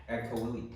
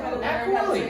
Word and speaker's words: Agcaoili: Agcaoili. Oh, damn. I thought it for 2 years. For 2 years, I finally learned Agcaoili.